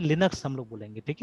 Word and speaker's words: Linux: तो that is वाई उनका आदत है इसको लाइनक्स प्रोनाउंस करने का, अमेरिकन है ना, दे प्रोनाउंस इट एज लाइनक्स, ठीक है, दैट इज वाई, है ना।